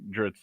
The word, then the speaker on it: Drizzt: Salvatore probably gets asked a lot is how do you pronounce Dritz? And there's a few pronunciations, but I think Dritz is the one that's the most common.